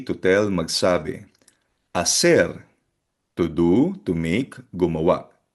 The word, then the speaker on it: hacer: Again, silent H yung sound, hacer, to do or to make.